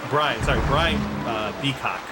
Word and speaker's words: Beacock: by the name of Bo Beacock or something like that. I don't know. It's a weird Brian Beacock is how you say his name.